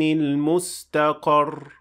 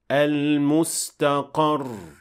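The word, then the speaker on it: المستقر: So we don't say ila rabbika yawma idhin al-mustaqar. That is not correct. It has to show that there is shaddah at the end of the word, and we say al-mustaqar.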